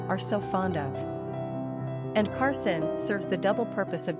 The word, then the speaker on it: Karsyn: Quick facts on Karsyn. Gender, girl. Origin, American. Number of syllables, 2. Ranking popularity, 736. Pronunciation, Karsyn.